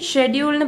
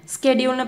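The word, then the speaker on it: schedule: இது ஷெட்யூல்னு பிரிட்டிஷ் இங்கிலீஷில் ப்ரனவுன்ஸ் பண்ணணும், அமெரிக்கன் இங்கிலீஷில் ஸ்கெட்யூல்னு ப்ரொனவுன்ஸ் பண்ணும். இது லைசன்ஸ், லைசன்ஸ், சேம் ப்ரொனவுன்சியேஷன் தான்.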